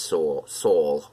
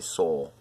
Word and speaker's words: Sowell: I always say Sowell, like soul.